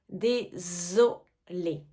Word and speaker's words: désolé: désolé je suis désolé ici c'est bien le Z français qu'on entend désolé désolé je suis désolé